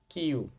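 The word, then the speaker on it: きゅ: এটার উচ্চারণ হবে কিয়া আবার দেখেন কি এর সাথে আমি ব্যবহার করেছি ইউ তাহলে এটা হবে কিউ কি এর সাথে যুক্ত করেছি ইও কিও কি যোগ ইয়া কিয়া কি যোগ ইউ কিউ কি যোগ ইও এটা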